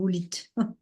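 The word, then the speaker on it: howlite: dans l'apaisement là alors ça s'écrit OV lit hein mais c'est Hite alors on la trouve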